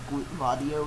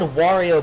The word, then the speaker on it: Wario: Then again, this is coming from Slim Kirby, the guy who pronounced Wario Vadio or something like Yeah, that. Vadio. Was that serious or was that a joke? No, he was serious. He was dead serious. That's He how was it's supposed to be saying that. pronounced? Yeah. Yeah, that. I don't want to be mean, but that's kind of a stupid idea. I mean, he said Wario before.